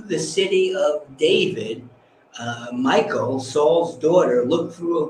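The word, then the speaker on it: Michal: as his wife uh spelled a little differently and it was in that it's m-i-c-h-a-l but pronounced michael that he had taken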